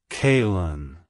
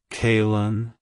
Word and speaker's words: Kailyn: of two other names K and Lynn it's pronounced as kaln kaln kaln to pronounce it correctly emphasize the first syllable